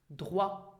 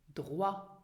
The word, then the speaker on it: Droit: And then the diphthong OI is not pronounced oi, but it is pronounced as in French wa. Examples. Droit. Droit.